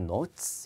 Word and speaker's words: notes: O 발음이에요. 노트가 아니라 note이에요. notes.